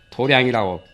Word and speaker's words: 도량: 공부하는 장소를도 닦는 장소를 도장이라고도 하고 도량이라 결집에서는 도량 청경무화에 도량이라고 발음을 하지요 당수 도장 태권도장 무슨 그런 도장이라고 하니까 발음을 아마 도량이라고 했나 봐요 더럽 다른 것이 많지요